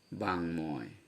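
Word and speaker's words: বাঙ্ময়: তো এর উচ্চারণে বাংময়, তার মানে ময়ের উচ্চারণ হলো।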